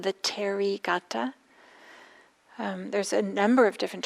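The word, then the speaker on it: Therigatha: poems it's called the terry gata there's a number of different translations available if you're interested you could always google it h e r i terry we don't pronounce the h it's um a word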